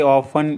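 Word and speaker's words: often: अक्सर जाता हूँ, आई ऑफन go there, I ऑफन go there, इसमें टी साइलेंट होता है ऑफन में।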